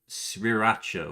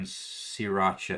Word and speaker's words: sriracha: This is the only one that makes sense, although I can't make the first R in sriracha is silent.